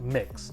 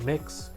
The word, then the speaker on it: Mx.: fragrance in the background it is pronounced mix i know it is mx period it is pronounced mix the fragrance is named